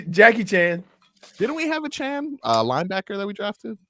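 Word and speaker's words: Achane: team that moving forward he would like to his his name pronounced Devon a Chan not a chain as it is currently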